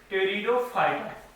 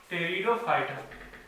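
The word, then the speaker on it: Pteridophyta: Third one इज टेरिडोफाइटा, पी यहाँ पे silent है, टेरिडोफाइटा, टेरिडोफाइटा। Fourth one is gymnosperm, gymnosperm.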